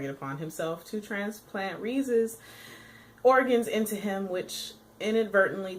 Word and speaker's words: Rize: beautiful, beautiful woman named Rize. Rize? I believe that's how you pronounce it. I always want to say Rise.